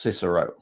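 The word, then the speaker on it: CSSRO: at the moment is the chief ssr officer um pronounced cicero why ssr because well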